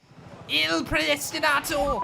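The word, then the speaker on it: Il Predestinato: Oh, how do you say it? Predestinato, isn't it? Ill Predestinato.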